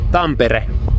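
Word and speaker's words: Tampere: do you say in uh Finnish temp tempere tempere that's it try it temper okay okay anyway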